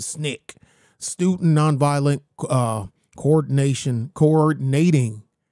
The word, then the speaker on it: SNCC: Committee uh Snick SNCC they cause they pronounce it Snick student non-violent uh coordination